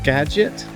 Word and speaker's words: Skagit: And it goes over the beautiful Skagit River. Wow, look at the color. And it's pronounced Skagit? Skagit, yeah, we learned that. It's not Skagit. Skagit. Ja. Skagit.